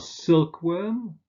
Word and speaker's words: silkworm: Examples are silkworm and cat food, where the first element is stressed.